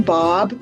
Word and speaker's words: Baab: My name is Baab. People always wonder how to pronounce my last name but it rhymes with Saab cars, so that's a good mnemonic device.